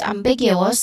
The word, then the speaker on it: ambiguous: Pronunciation wise, ambiguous, we start with the first syllable, of course, which has a short a sound, and then big, which is a short e sound, and then you.